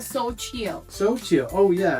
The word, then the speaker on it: Xochitl: It's definitely So Chill.